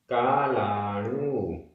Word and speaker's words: कालाणु: ते कालाणु, ण में बड़े ऊ की मात्रा। कालाणु।